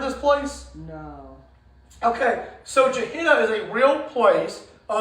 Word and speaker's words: Gehenna: Gehenna. Okay? And I put the pronunciation here because it's a little hard to say.